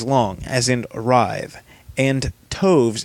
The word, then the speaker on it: toves: as in arrived and Toves is pronounced as to rhyme with groves again the first Oh